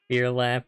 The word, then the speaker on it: Phear Lap: Phear Lap, as in fear. Don't pronounce P or H heavily.